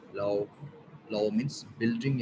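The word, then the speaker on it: 楼: तो यहाँ पे सेकंड टोन एल, इसके साथ हम कनेक्ट करेंगे तो ये किस तरीके से प्रोनाउंस होगा, लाओ.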